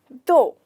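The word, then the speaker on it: though: THOUH, जैसे दो, उसमें कहीं पे भी जी नहीं हो रहा, तो हम इसे कैसे बोलेंगे? दो। यहाँ पे लेटर जी साइलेंट होता है, ठीक है।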